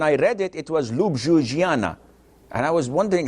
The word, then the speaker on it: Ljubljana: read it it was Ljubljana and I was wondering how where did the J go so in some countries that J is pronounced as I so Jesus is Isis